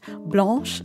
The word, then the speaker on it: Blanche: was to be pronounced blanche like the color like that means white in french well that pronunciation is